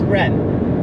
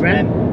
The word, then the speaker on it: Reims: Is it not just Rem? Or Reims? I think it's just Rem. I don't think the French pronounce their S's.